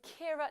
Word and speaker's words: Keira: The right answer is Keira Knightley. Now, actually, in the credits, they got her name wrong.